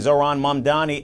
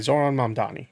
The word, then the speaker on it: Zohran Mamdani: The political feud between Zoron Mandani and Donald Trump is re Okay, so I did say it right. Zoron Mani.